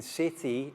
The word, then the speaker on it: city: Now notice how the C in city is pronounced like an S because it's the soft C sound.